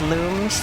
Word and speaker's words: Lums: It has to be lums specifically. I need a glow box. It's looms, like luminance. That's modern canon. I don't care. It's pronounced looms, actually.